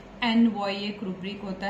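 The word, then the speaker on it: ennui: पहले कॉमन चीजें है वो बता देती हूं एन वई एक रुब्रिक होता है the spelling is E double N यू I which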